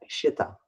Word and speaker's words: xita: Yeah, Shita. Yeah. It's spelled with an X. Yes, It would be this. Xita. X-ray India Tango Alpha. Yeah. Shita.